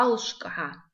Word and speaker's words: алшка: Звук г в начале слова и в конце пишется как г, палочка. Алшка. И звук ш в. Звук ш мы встречаем уже не первый раз. Мы встречали даже в начале урока звук ш. Пишется как ш в. Звук к пишется как к, палочка.